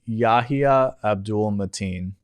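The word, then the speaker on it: Yahya Abdul-Mateen: Then you see the trailer, you get that Yahya, I'm not going to pronounce his name, I'll just call him Yahya. It's Yahya Abdul Mateen.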